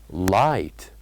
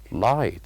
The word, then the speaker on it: light: or the silent letters light light so here the silent letters are G and H these are the silent letters light and then